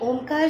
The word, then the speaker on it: ओम: ओम ये शब्द तीन अक्षरों से बना है, अ, उ और म।